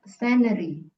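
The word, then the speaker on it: scenery: go to namibia the scanary is absolutely stunning and the people are very friendly ya scaryy jadi c-nya enggak dibaca absolutely stunning Oke selanjutnya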